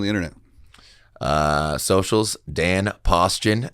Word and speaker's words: Paustian: find you on the internet uh socials Dan posan not posan d n p a u s